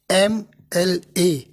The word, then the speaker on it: MLA: लेकिन इनका जो उच्चारण है, इनका जो प्रोनाउंसिएशन है वो है हिंदी का ए से शुरू होता है, एम एल ए। तो एम का मतलब जो हिंदी का वॉवेल आया ए, उससे है एन एम एल ए।